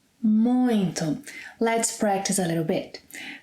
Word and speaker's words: muito: ‘Muito’ is a peculiar word. No one actually knows why there is a nasal sound in the middle of it. It is not ‘muito’, but ‘muinto’ – ‘muinto’.